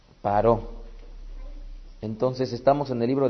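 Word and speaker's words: פרעה: Que Paro, que sería la forma en cómo se pronuncia precisamente en el hebreo faraón, Paró.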